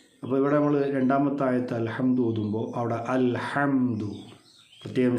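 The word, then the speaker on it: الحمد: അൽ ഹംദു പ്രത്യേകം ശ്രദ്ധിക്കേണ്ടത് ഹംദ് ഹംദിലെ നമ്മൾ നേരത്തെ പറഞ്ഞതുപോലെ ഹാ എന്നുള്ള അക്ഷരമാണ് അൽ ഹംദു അൽ ഹംദു എന്നൊന്നും ആയി പോകാതെ അത് ഹംസയോ അല്ലെങ്കിൽ ഹാവോ ഒന്നും ആയി പോകാതെ അൽഹംദു ഹാ എന്നുള്ള ഉച്ചാരണം കൃത്യമായിരിക്കണം പിന്നെ അൽഹംദു അവിടെ ദാൽ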